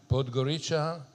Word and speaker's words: Podgorica: She began her career as a criminal judge in, if I pronounce it correctly, is Podgorica. Podgorica, and I practiced it, so that's why I was successful.